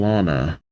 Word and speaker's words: Lana: Aw, I keep going between Lana and Lana.